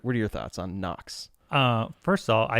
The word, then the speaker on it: Knox: Knox right meaning uh also has a silent k in it this is bad branding